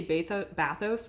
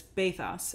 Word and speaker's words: bathos: bathos baths bath us I wanted to say bathos but it's bathos an article that introduced me to the concept of bathus humor bathos bathus humor baithus is defined as an effective